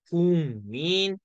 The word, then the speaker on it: 국민: 두 개가 만났을 때 기억은 뭘로 변해요 이응으로 변해요 그래서 요놈 발음 어떻게 해요 궁민 렇게 되는 거지 무슨